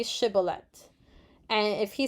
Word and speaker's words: shibboleth: the amplified bible commentary the hebrew consonant with a sh sound which the aphromites evidently